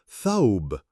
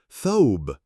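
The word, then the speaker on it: ثوب: Tha is the first letter in the word dress in Arabic, and the pronunciation of the word dress is written below the rectangle. Thawb, thawb, thawb.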